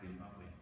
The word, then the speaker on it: Zimbabwe: You pronounce it right, Zimbabwe.